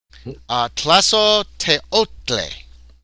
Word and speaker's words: Tlazolteotl: Pronunciation. Tlazoteotle. Teotl. Tlazolteotl.